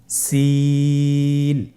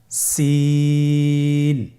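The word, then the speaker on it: سين: সিন হরফটি উচ্চারণ ক্ষেত্রে অবশ্যই তিন আলিফ টেনে পড়তে হবে। সিন হরফটি বারিক হরফ পাতলা করে উচ্চারণ করতে হবে। তাহলে আমার সাথে বলুন সিন আবার বলুন সিন মাশাআল্লাহ।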